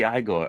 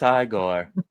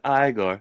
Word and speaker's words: Igor: You must be Igigore or Eigore. No, it's pronounced Igore. You're so good. Just so good. It's literally one of my favorite movies. Yeah, it's pronounced Igore.